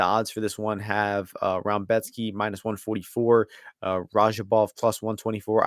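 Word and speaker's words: Rębecki: I don't have a good understanding of the Polish language, because I don't know where the Raumbetsky syllables come from with this guy's name, but that's how they pronounce it.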